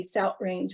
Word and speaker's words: South Range: the in the u.p people will sometimes substitute that glottal stop for a tu for what we call the voiceless th like in the word south and for example i have a friend who lived near south range and she would say south range and she had